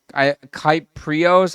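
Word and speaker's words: Kypreos: So the tweet that I'm talking about that I'm bringing up, Nick Kyprios, I hope I pronounced. Kiprios.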